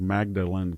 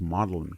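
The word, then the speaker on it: Magdalen: He I didn't know when I was a young classicist I was always told Magdalin College is pronounced Modellin College but I'm not and I don't I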